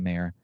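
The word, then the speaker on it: Mayer: inks um I think I think it's mayor right JP mayor um I don't want to say his name wrong I want to say Meer I want to say Meer but I'm pretty sure it's mayor um but you know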